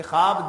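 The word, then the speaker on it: خواب: अच्छा, इसको ख्वाब पढ़ते हैं लोग, ख्वाब लिखा ख्वाब ही जाता है लेकिन पढ़ा ख्वाब जाएगा। ये वाव जो है वो साइलेंट है इसमें।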